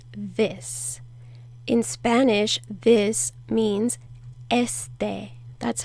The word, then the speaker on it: este: In Spanish, this means este. That's how you say it. Este. Este. Put more of the emphasis on the first E, not the last E.